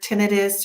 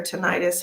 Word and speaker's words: tinnitus: Okay, so whenever you get that ringing sensation in your ear, tinnitus or tinnitus, however you want to pronounce that word, that ringing sensation is when the spirit world is trying to communicate with you.